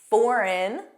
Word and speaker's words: foreign: Foreign, completely different pronunciation. Foreign, benign, benign.